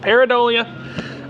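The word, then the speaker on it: Pareidolia: That's how we pronounce it. Paridolia.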